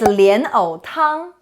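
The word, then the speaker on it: 莲藕汤: the word of the day today is lian o tang lotus root soup the first two character lion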